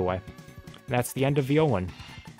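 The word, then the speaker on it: Violen: Yes, I pronounce it Violan. Probably a lot of people say violin, but it's spelled with an E. So, Violan.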